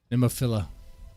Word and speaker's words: Nemophila: No I at the end. Oh, I was probably mispronouncing it, huh? Nemophila.